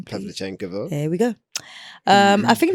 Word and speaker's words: Pavlyuchenkova: You pronounce the last name, please. Pavlyuchenkova.